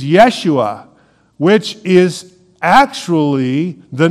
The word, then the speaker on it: Yeshua: name Jesus but actually the Hebrew way of pronouncing this is Yeshua which is actually the